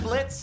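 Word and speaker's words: Blitzø: I'm Blitz. The O is silent.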